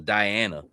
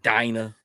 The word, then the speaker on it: Dina: Dina, is that how you say her name? I thought it was Diana. It's Dina.